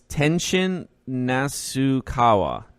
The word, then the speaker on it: Tenshin Nasukawa: Let's see if I can pronounce this. Tenashi something. Not Tekashi 6ix9ine. It's Tenshin Nasukawa.